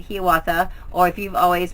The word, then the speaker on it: Hiawatha: It is pronounced with a long E sound, Hiawatha.